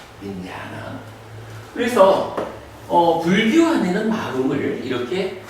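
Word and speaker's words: viññāṇa: 요 식이라고 하는 마음은 파일리어로는 어떻게 쓰냐 하면 윈다나. 그러니까 윈야에다가 요 A에 선이 보면은 이게 장음이 돼요. 그래서 윈야나라고 읽거든요. 윈야나.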